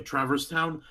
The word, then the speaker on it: Traverse Town: other stuff and went to the first town, Traverse Town. Like, sorry Yeah. if I butchered that No, name. no, no, no. That's correct. Okay, Traverse Town.